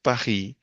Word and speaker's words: Paris: Parisia Paris is pronounced as Pahi in French and Pahisia are Paris pe people from coming from Paris.